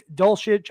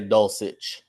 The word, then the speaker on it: Dulcich: I was pronouncing Indulgence I heard it dolceage I'm not 100 sure but the big long hair white dude tied in who's tearing up in Denver I love that guy I'm gonna say dulcich regardless of how he ever